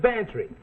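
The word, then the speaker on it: Bantreagh: Well, his is Bantry. Go on, spell it. Bantry. It sounds like pantry. I ain't no gambler, Mac. Well, get this for free. It sounds like pantry, but it's spelled B-A-N-T-R-E-A-G-H.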